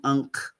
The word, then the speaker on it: Ankh: And she is a protector of life itself because of her name being Ankh, the Ankh, or Ink is the way it's really supposed to be pronounced.